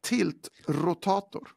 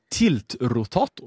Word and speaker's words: tiltrotator: Och kan du kan du uttala detta ord igen? Tiltrotor. Tiltrotator.